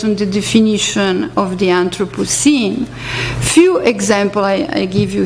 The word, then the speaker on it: Anthropocene: Century Film, Selmin Kara, she uses the term anthropocinema written with the E, not but the I, Anthropocene, but you pronounce at the same time.